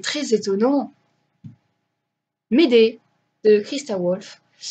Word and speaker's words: Wolf: Médée, de Christa Wolf, parce que c'est une allemande, donc ça ne se prononce pas Wolf, ça se prononce V.